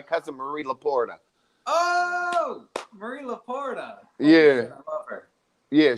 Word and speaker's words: Laporta: Oh, Marie Laporta.